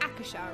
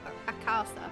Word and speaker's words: Akasa: They call it Akasha, right? Not Akasa, however it's spelled.